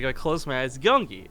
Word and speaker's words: Gyeonggi: easy right like if I close my eyes gungi like yeah but if I try and read this out phonetically it's a Yong wow that's so different